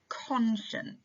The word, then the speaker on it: conscience: number four is conscience conscience now this is a slightly tricky one because the sound of the second syllable is shh when it feels like it should be so I've split